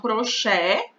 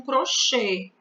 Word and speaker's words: crochê: As pessoas ora pronunciam crochê com E aberto, ora pronunciam crochê com E fechado.